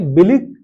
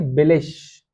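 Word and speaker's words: billig: जैसे इसे पढ़ेंगे बिलिग, बिलिग नहीं पढ़ेंगे, इसे पढ़ेंगे बिलिश, ये है बिलिश।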